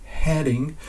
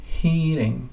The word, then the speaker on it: heading: mot de la fin, essayez de prononcer toujours heading et pas heating, qui est en fait,